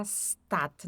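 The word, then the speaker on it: Stadt: Cuidado para não dizer stat. Tem muito brasileiro que fala stat, né? Daí às vezes as pessoas não entendem. Então é stat, tá?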